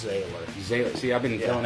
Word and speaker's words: Zähller: your name being Zähller. Oh gosh, yeah. Actually, it's pronounced like sailor, so it's Zähler.